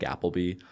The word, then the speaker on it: Appleby: So, if you just search Applebee pretty much E, not a Y.